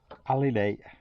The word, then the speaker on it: alidade: I can pronounce this right. It's a compass pointer, but it's called, it's a very crude alidade, A-L-I-D-A-D-E.